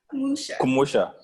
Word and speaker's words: Kumusha: Say it one more time for me. Kumusha. Kumusha. I said it right, Kumusha.